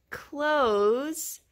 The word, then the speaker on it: clothes: and change his clothes the word clothes sounds like close the door forget the th it's clothes what kind of clothes